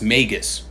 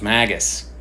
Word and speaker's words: Magus: of this is that it's pronounced Magus. I always thought it was Magus, the Magus.